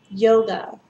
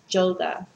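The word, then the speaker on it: Jóga: some people call this song yoga like the exercise but it's not it's yoga and um okay so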